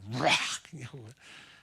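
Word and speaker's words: רוח: 이 루학이라는 단어를 발음할 때마다 우리 입에서 바람이 나옵니다. 루학, 바람.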